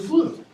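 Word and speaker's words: Floo: It's spelled this way, but you have to go into a fireplace chimney, which is called, the thing that goes up, the flue.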